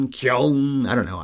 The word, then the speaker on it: Keoghan: Apparently it's Keoghan. That's what I was hearing recently. Because, of course, he was in Banshees of Inisherin and was so it's nominated for an actually Oscar. pronounced how it's spelled then. Yes, which is unusual for Irish people, yeah. For once, an Irish name.